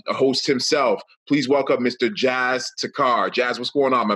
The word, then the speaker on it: Jas Takhar: Jas Takhar.